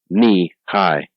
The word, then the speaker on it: Nehi: knee high and it's it's spelled Nehi but it's pronounced knee high because the bottles were taller than Coke bottles they were knee high